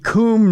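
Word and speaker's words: Kum: I want to say it's the Coombe neighborhood. It's spelled K-U-M. Well, like Come and Go, the gas station.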